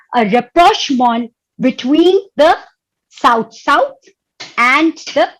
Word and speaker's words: rapprochement: We pronounce it like rapprochement, and this rapprochement is a very important concept in international relations.